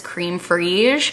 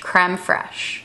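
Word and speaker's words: crème fraîche: and then also this cream freeze nope nope not cream free sierra that's how they say it in south park people have corrected me on this literally every time i've shown it in a vlog creme fresh creme fraiche i got these two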